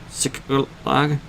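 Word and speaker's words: Ziklag: Sick lag.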